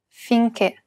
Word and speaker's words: finché: The other accent is the acute accent, and it's used to indicate that we should pronounce it as a closed E. Perché, finché.